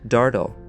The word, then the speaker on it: deargadaol: in the Irish language as the Dearg Due, pronounced Dardal.